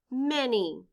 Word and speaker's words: many: m a n y in this word the letter a stands for the short e sound e the letter y stands for the long e sound e blend with me